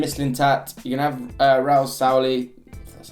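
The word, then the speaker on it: Raúl Sanllehí: to have Sven Mislintat, you're going to have Raul Sauli, that's how you say it.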